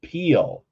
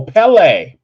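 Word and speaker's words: Pele: oh yeah Legends of Peele off the hook Legends of Peele never heard of that leg what peel oh Pelle Pelle sorry I mispronounced it Pelle is the fire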